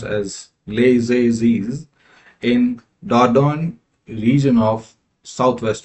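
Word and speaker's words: Les Eyzies: So this one again this one is pronounced as Leiz in Daon region of southwest France.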